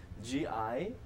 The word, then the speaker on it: Gianluca: J- So G no, like it's spelled George. G as George, Gianluca, and my last name is spelled Orienti.